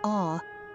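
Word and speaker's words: Å: O, pronounced as awe, is also a must visit.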